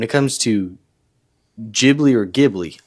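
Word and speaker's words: Ghibli: to jibi or gibli I'm pretty sure it's jibli I've never heard gibli before well some people have said gibli but I'm just saying I think it's jibli because someone posted a video and that's how the guy said his name or he said um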